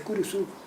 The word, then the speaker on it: kurusu: soledad curusu en guaraní tienen 11 vocales pero no pueden pronunciar dos consonantes juntas entonces cruz en guaraní es kurusu cruz en realidad es Cruz pero no pueden decir Cruz como tampoco Pueden decir